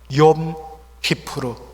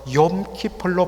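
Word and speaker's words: Yom Kippur: 구약에는 오직 하나님께로 나가는 그날은 1년에 딱 하루, 욤 키푸르, 영어로는 욤 키플로 발음되는 대속죄일 하루였습니다.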